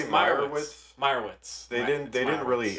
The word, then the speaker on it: Meyerowitz: Well, I heard them pronounce it Meyerowitz. Didn't they say Meyerowitz?